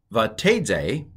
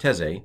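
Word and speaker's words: ותצא: Vatedze, not teze, but vatedze, min hamakom asher hayata shama.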